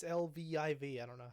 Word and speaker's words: Lviv: I'm just gonna say Liev. That's not how you say it, but Viv. It's Lviv.